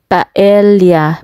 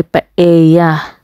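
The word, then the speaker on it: paella: Spain yun ay ang paela Pero sabi nila ang pronunciation nga ay paea ganon tapos masarap talaga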